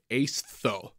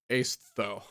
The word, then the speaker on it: Aestho: Coming up next, we have Diffuse by Aestho. Like aesthetic, but Aestho. Aestho.